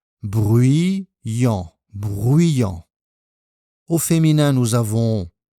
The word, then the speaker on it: bruyant: Les adjectifs suivants, silencieux et bruyant. Attention à la prononciation. Bruyant, bruyant.